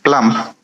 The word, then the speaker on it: plump: Plump. Yes. So we must have the p sound at the end.